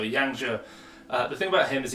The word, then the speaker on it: Yang Zhe: And this week, well, the thing with Yang Zhe, and I've always called him Yang Zi, but I've been told that I need to get my pronunciations better. So Yang Zhe, the thing about him